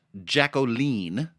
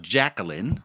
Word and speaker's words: Jacqueline: So this lead track, pronounced Jacqueline, not Jacqueline, Or Jake like Quillen. one might think, or Jaquillin. Jake Quillen.